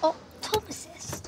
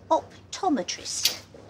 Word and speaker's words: optometrist: optometrist says about that did you say optomist uh not quite I said optometrist oh oh that's a